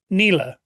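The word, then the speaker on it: Nela: Nila. Oh, yeah. I always call her Nella. I call her Nella, but everyone calls her Nila.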